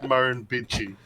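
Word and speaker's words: Murrumbidgee: Oh, and that word that you were trying to pronounce there is Marin Bitchi.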